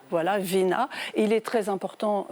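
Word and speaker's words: війна: Alors, je vais peut-être vous laisser, Anastasia Fomichova, le prononcer en ukrainien. Ce mot guerre en ukrainien, c'est Vina. Voilà, Vina.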